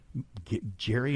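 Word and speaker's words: Gerry: everything the guy did I thought his uh name was Gary because it was spelled with a g in the credits I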